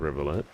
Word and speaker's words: Rivet: don't think I mentioned rivet the reason why I pronounce it the way I do is I think like a river right it's too dark